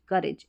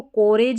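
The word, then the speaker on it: courage: अब आप करेज लग रहा है ना, तो वो उच्चारण यही आ रहा है, करेज, करेज ऐसे। ठीक है, इसको कोरेज नहीं पढ़ना, काउरेज भी नहीं पढ़ना, करेज पढ़ना है।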